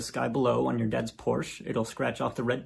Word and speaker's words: Porsche: below on your dad's Porsche, it'll scratch off the red paint and show the silver underneath. Also, I know it's technically pronounced Porsche, but I refuse to say it like that.